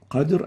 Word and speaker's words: القدر: It means a totally different meaning from qadr. Qadr and ghadr are totally different words. And the right way of pronouncing it is like this. في ليلة القدر Qadr. So make sure not to replace the qaf with a ghain.